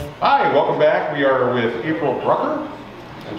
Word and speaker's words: Brucker: And with us today, April Brucker. Yes. Who sounds like Hooker.